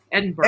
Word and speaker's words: Edinburgh: It is it Edinburg? Edinburgh. Edinburgh.